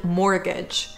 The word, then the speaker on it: mortgage: next is the word mortgage like the word debt here the t is silent so it's not mortgage